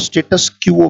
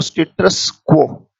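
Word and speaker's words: status quo: पहले उच्चारण जरूरी है। स्टेटस भी पढ़ा जाता है और स्टेटस क्यूओ भी पढ़ा जाता है।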